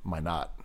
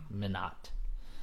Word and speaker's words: Minot: that's actually I guess it's actually my not Minot I'm just so used to these French pronunciations as a Frenchman yourself